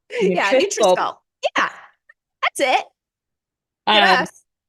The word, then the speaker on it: NutriSculpt: I would say like nutrition, but shorten it. NutriSculpt. Yeah, NutriSculpt.